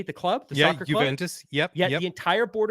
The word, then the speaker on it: Juventus: Juventus is that how you say the club Juventus yep yeah the entire board of directors at